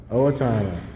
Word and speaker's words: Owatonna: Owatonna.